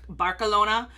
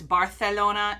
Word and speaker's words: Barcelona: there is no like the th doesn't exist in mexican spanish so it's barcelona barcelona in mexican spanish it's barcelona in castillian spanish so there's all these